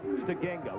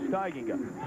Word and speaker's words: Steigenga: He told us Stegenga, with the emphasis being on the second syllable. Correct. Everybody around here calls him Steigenga.